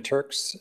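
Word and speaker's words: Turckes: name is uh Turks Turks is spelled t-u-r-c-k-e-s with Perkins and will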